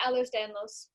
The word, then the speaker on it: Ehlers-Danlos: But you were diagnosed with, and tell me if I'm pronouncing it wrong, Ehlers-Danlos Syndrome. Yeah, Ehlers-Danlos.